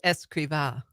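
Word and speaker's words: Escrivá: but if we agree we're good it is escriba oh it's okay so my wife is Espanola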